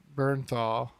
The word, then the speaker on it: Bernthal: The guy that John Bernthal, is that how you say it?